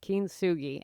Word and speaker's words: kintsugi: It's a Japanese word pronounced kinsugi and it means golden joinery.